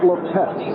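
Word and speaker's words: Lippett: And I should point out right at the start that is now Ronnie Lepet. He has changed the pronunciation, and this took place only a couple of weeks ago.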